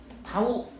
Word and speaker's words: 타우: 그래서 이건 그리스 문자예요. 그래서 얘는 타우라고 읽습니다. 타우. 그니까 이렇게 뭐 t처럼 쓰죠.